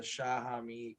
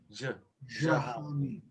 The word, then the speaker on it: Jahami: We touched on the history of the Shahami quite a bit. Is it Zahami? Am I saying it wrong? Jahami. Jahami. Jahami. Jahami. Okay. Well, anyway. Think of a j and a sh. Jahami.